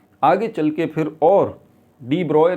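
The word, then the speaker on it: de Broglie: बहुत सारे लोग हैं डी ब्रॉय है जिनको जिसको डी ब्रोगली भी कहते हैं गलत प्रोनाउंस करते हैं डी ब्रॉय तो ये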